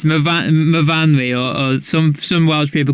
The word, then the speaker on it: Myfanwy: It's MYFAN. There's a W. How do we say that then? Myfanwy. Oh, Myfanwy. Of course, your S's become your V's, don't they? Yes. Yeah, it's Myfanwy, or some Welsh people call it Myfanwy.